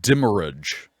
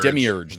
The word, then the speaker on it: demiurge: by a fourth century scholar not going to pronounce that the concept itself can be traced back to the original misread term uh dimmerage demir demiurge there we go again back to gnosticism we